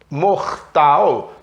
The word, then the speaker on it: mortal: Mortal, mortal, né? Meio D a pronúncia desse T.